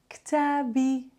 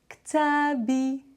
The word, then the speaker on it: kitabi: We add the e at the end. Kitabi. Kitabi.